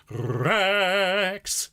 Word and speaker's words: Rex: It's Rex. Okay, now I need you to roll your R's. I need you to put the E of X exactly on the beat. So it's going to be 1 Rex.